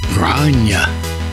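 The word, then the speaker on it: Gráinne: Grania. God, that's hard, strange to say, because when you spell it, it's G-R-A accent I-double-N-E.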